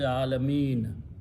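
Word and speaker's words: العالمين: So they come Alamina. Okay? When you read Rabbul Alamina, you stop, you say Alameen. Remember that. It is still Rabbul Alameen.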